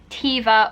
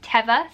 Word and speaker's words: Teva: kept coming up when i was googling was tiva or teva i've heard it pronounced both ways i literally googled and on their website they say it's pronounced as teva so we're going with that yeah so that